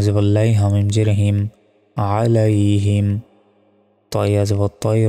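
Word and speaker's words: عَلَيْهِمْ: দেখুন, আলাইহিম যদি বলি এখানে আইনের জায়গায় আলিফের উচ্চারণ করে ফেললাম, তখন তো আমাদের ভুল হবে। এখানে আছে আইন, আইন জবর হয় আ, গলায় চাপ দিয়ে আইন অক্ষর উচ্চারণ করতে হয়, আলাইহিম।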